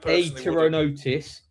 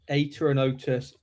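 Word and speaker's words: Apteronotus: I'm going to try and pronounce this properly because you don't say the P, do you Max? I will. Atronotus Aruana and Ateronotus Pakamama.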